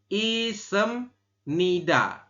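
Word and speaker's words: 있습니다: m seperti ini ya Jadi dibacanya bukan se tapi sem seperti itu jadi isem Nida seperti itu yoriago isemnida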